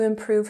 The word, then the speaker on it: improve: For example, she took a course in marketing in order to improve her skills. Order has emphasis on the first syllable. Order. And improve has emphasis on the second syllable. Improve. Improve. Good.